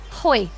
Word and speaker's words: Hoy: Hoy rhymes with boy is fine.